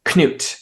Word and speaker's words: Cnut: the way it's written in English here is Canute, Canute. It's basically written phonetically. His name is actually Cnut, Cnut is how it's actually written, or sometimes Knut in like Old Norse.